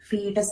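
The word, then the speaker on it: foetus: Next stage will be fetus, F-O-E-T-U-S, but we pronounce it as a fetus.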